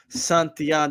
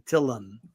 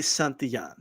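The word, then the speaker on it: Santillán: here it says congratulations santian the Double L in Spanish is not pronounced like an L in English that's why people say it that way they say tillan right excuse me and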